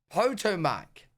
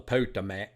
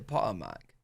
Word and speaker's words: Potomac: at the read through All Quiet on the Potomac Jenny I mean black hot Potomac what did I say Potter Mac bench so it was a weird time but